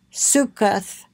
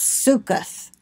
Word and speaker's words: Sukkot: the place was thereafter called Sukkot Succoth yes Succoth Genesis 33 17 the first